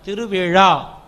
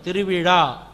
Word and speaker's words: திருவிழா: திருவிழா. ழா. அந்த ழா உச்சரிப்பு தொண்டையில் இருந்து திருவிழா.